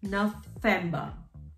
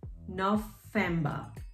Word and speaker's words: November: November, same spelling, but remember the alphabet, V is pronounced as F, has the F pronunciation. So November becomes November, November.